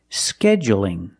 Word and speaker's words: scheduling: But when I say scheduling, is it dark or light? That's right. It's light because the L is between vowels.